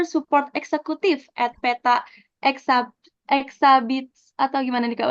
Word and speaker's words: Exabytes: lalu ada customer support executive at Peta Exa, Exabits, atau gimana nih Kak bacanya? Exabytes.